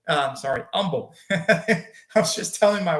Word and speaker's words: Humble: Humble. I'm sorry, Umble. I was just telling my wife the other day that we don't pronounce the H.